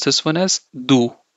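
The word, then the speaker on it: du: And how do you pronounce this one as do, right? So the without E with U will be do.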